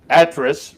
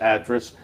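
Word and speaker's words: Atras: debating about rob uh actress rhymes with mattress and i interviewed him you get to see the interview on uh racing across america later and i had when i went over i asked him because i've heard his name pronounced five different ways with emphasis all over and it does rhyme with mattress so it's actress and then uh down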